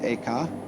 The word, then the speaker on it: Eka: The second was named Eka, I'm using the Japanese pronunciation, who was formerly a general of the army.